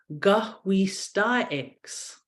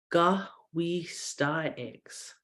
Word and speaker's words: Gahwistaix: For the next word we have gahwistaix. Gahwistaix. So we're breaking this one into syllables. If gah, we, oops, let's get that out there. Sta, ix. Gahwistaix.